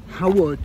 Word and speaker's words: Howard: Castle Howard.